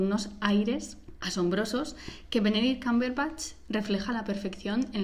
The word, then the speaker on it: Cumberbatch: Se pronuncia Cumberbatch, lo siento, no pongáis esa cara.